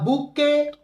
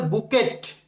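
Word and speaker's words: bouquet: আচ্ছা, তারপর হচ্ছে ফ্লাওয়ার্স, ফুল, বলছে না আ বুকে অফ ফ্লাওয়ার্স, এক তোড়া ফুল। অনেকে বুকে কে বলে বুকেট, বুকেট হবে না, এখানে টি হচ্ছে সাইলেন্ট লেটার।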